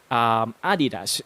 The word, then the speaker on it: adidas: know that right now with its german roots uh most people in germany would pronounce this as adidas and for most filipinos